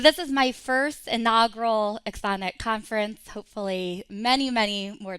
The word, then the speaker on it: Axoniq: And by the way, we were saying the name wrong for like 3 months before we realized it's Axoniq.